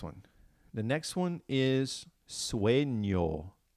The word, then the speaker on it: sueño: The next one is sueño, sueño, sueño. So you have that ñ sound in there. Now listen to the beginning. Sue, sue. So think about which vowels sound like ue.